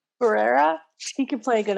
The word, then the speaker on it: Herrera: how do you say your last name herrera herrera he could play a good elphaba i think